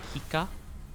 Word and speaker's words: Heika: Like Hika. I think of like Hiccup, right? Like Hiccup, but like instead of obviously up, it's an A.